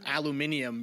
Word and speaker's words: aluminium: So this week's question is about aluminum, or as Katie always likes to joke, aluminium, because that actually is how you're supposed to pronounce it. But whatever. If you're British.